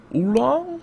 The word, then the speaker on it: Oolong: Oolong? Did I say it right? That is correct, sir.